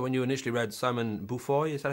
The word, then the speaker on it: Beaufoy: don't know that when you initially read Simon Beaufoy, is that how you pronounce his name? The guy behind the Everybody calls him that. I love how it when it's called that. He's from Yorkshire, Beaufoy. Beaufoy.